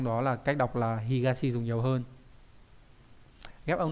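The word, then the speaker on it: 東: có chữ đây là chữ đông đúng không đọc là higashi đúng nhỉ higashi là phía Đông nhá ngoài ra nó còn một cách đọc đ đặc biệt là azuma đấy azuma có hai cách đọc là higashi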